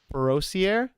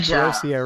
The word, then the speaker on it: Perossier: No, Navy sailor, mother, Navy chief, grandmother, Miss Freedom USA woman division, published author, Latonya Perossier. Did I say it right? Yeah, okay, good. Perossier, right.